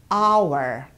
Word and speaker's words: hour: For example, the word hour. You see how we write it? Hour. It starts with a H. But we do not pronounce this H. We say hour.